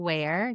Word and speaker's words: Wier: That's on Substack and my last name is spelled w i e r. So wear w i e r on substack.